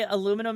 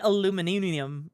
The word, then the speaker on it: aluminum: Both ways to say aluminum is correct, D. Yeah, the both ways are, but I used to say aluminium, right?